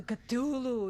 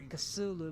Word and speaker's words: Cthulhu: honest because the culu is scary. I never knew it's pronounced culu instead of a casulu but that's me.